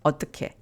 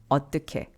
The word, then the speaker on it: 어떻게: By the way, 어떻게 in colloquial speech is often pronounced 어떻게, 어떻게. Or 어떻게, 어떻게.